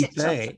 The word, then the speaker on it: Beiträge: Bueno, pues Beiträge. Esa A con 2 puntos es una E. Beiträge, se pronuncia como una E.